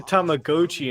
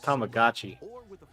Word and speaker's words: Tamagotchi: He said Tamagoi instead of Tamagotchi.